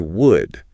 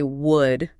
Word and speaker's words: would: People try to say would. But that L is entirely silent, isn't it? Completely silent. The word sounds exactly like the word for the material that comes from a tree, wood.